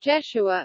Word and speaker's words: Jeshua: John chapter 1 verse 45, Jesus, pronounced Jeshua in Hebrew, is equivalent to the Hebrew name Joshua, the biblical name of Moses' assistant and of a Jewish high priest.